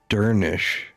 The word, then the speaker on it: Dernesk: Dernesk is pronounced Dernish, since the final SH cluster sounds like an SH.